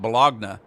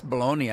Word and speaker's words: bologna: When I was a kid, I called it bologna. And everybody said it's baloney. I said, I know it's baloney, but look how it's spelled. It looks like bologna to me. I mean, there's not even an E or a Y in it.